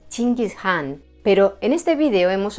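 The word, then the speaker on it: Чингис хаан: Por cierto, el apelativo por el que todos lo conocemos, Gengis Khan, en realidad en mongol se pronunciaría algo así como Chingis Khan, pero en este vídeo hemos optado por pronunciarlo del modo más popular en castellano.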